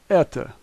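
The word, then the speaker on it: это: we have T and O and this is Etha the Russian letters s Tay ooh l make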